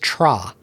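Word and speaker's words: TRHA: And uh I asked them how you pronounce this band's name. It's T R HA. And they said they think it's just Tra cuz the whole time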